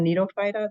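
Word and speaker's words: Gnetophyta: the gymnosperms is this the phylum needophyta the g is silent there's three Genera that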